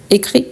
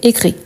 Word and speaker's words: écrit: écrire le parti passé attention parce que le parti passé c'est avec T donc c'est écrit avec T ok pas avec S donc la prononciation c'est la même écrit écrit mais voilà c'est avec